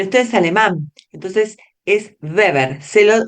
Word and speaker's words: Weber: Se dice beber, no weever. El video dijo Weber. La verdad que les puse este video porque me parece que sintetiza un montón, pero Weber no se dice, se dice beber porque es alemán.